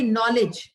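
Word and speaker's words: knowledge: letter होगा तो देखिए नॉलेज ये जो शब्द है इसमें के साइलेंट होता है ऑनेस्ट हम नेस्ट नहीं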